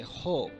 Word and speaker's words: hope: But when you add E, though this E is not pronounced, but it affects the vowel sound, previous vowel sounds. So we say hope.